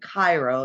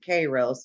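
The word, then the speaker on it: Kairos: company it is uh a lot of people pronounce it Cairo so I pronounce it K Rose but it's just how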